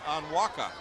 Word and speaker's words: Onwuka: I did happen to hear, by the way, the PA announcer announced Bobby Onwuka. That's the pronunciation.